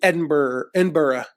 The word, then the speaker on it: Edinburgh: There's one from Paris, London, Edinburgh is how they pronounce it, Dublin.